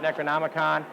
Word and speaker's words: Necronomicon: Kathy thanks for hanging with us here at Necronomicon I said it right you did I did